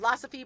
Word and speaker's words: Losophy: It's called Losophy, pronounced like philosophy, and it's a line